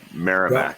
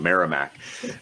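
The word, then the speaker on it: Merrimack: who is the head coach of marac uh maram I I I I I I I've told I pronounced that wrong miramac um and and he they he rebuilt that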